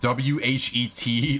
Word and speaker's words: whet: But yeah, it's spelled W-H-E-T, like wheat.